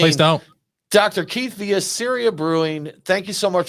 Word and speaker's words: Ceria: uh yeah again it's syria syria i'm from syria rhymes with area there you go and